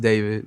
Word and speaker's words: D4vd: Pronounced David, not D4vd.